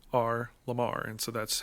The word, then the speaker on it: R.LUM.R: those are all capital uh correct uh it's r lamar okay so his name is i should i